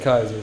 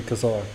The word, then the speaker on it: Khazar: Like y'all see that, and then it says you said Kaiser, but it's really Khazar. But yeah, I'll spell Kaiser. it's pronounced Khazar though.